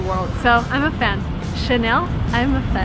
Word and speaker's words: Chanel: it's from friends so the correct way to say this word is Chanel and by the way